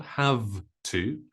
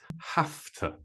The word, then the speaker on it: have to: this have to have to is pronounced with an F sound not a v sound so it's not have to it's have to I I have to